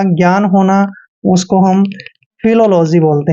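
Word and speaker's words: philology: ओ जी वाई दोस्तों पीएच का उच्चारण हम फ करते हैं और आई को हम ई की मात्रा लिखते हैं एल को हमने ल लिखना है ओ को ओ की मात्रा पढ़ते हैं एल का उच्चारण ल करेंगे ओ को फिर से ओ की मात्रा पढ़ते हैं और जी वाई को जी पढ़ते हैं यानी कि फिलोलॉजी दोस्तों फिलोलॉजी होता है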